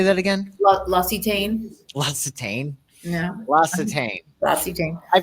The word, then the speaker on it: L'Occitane: L'Occitane, how do you say that again? L'Occitane.